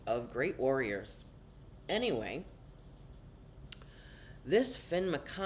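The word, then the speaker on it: Fionn: McConnell uh-huh well it's it's spelled f-i-o-n-n but it is pronounced Finn they called him Finn and he had to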